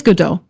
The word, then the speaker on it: Godot: engine all right so what is good do or God do or however you want to pronounce it there's a lot of ways to I say Gau personally um so gdau is